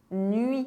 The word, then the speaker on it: nuit: UI make the sound as in "nuit" (night).